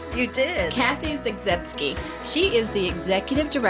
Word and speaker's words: Zagzebski: Today I am so excited to be interviewing Miss Kathy Zagski. Did I say it right? You did. Kathy Zagski.